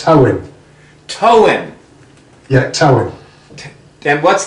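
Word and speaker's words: Tywyn: If you look at the first Y as an O, it's Towin.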